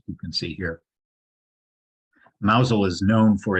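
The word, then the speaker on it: Mousehole: little village called mousel it looks like mouse hole but it's pronounced mousel it also has a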